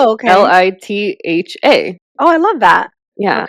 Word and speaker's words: Litha: LITHA. Oh, I love that. Yeah, okay. And you actually enunciate the H, unlike our maiden last name, that the H is silent.